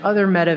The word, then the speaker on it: Meta: facebook dead because apparently the word meta is pronounced like the feminine form of the hebrew word for dead and so that was